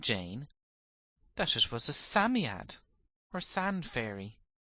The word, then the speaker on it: Psammead: It told the children, whose names were Cyril, Robert, Anthea, and Jane, that it was a Psammead, or sand fairy. Psammead is pronounced Sammy-ad.